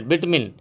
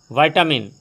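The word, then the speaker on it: vitamin: अब जैसे एक मिनट, विटामिन, वाइटामिन, विटामिन क्या सही है, तो मैं बता दूं, है तो तीनों सही, लेकिन विटामिन हिंदी है, इंग्लिश में सिर्फ दो ही प्रोनाउंसिएशन होता है, विटामिन और वाइटामिन।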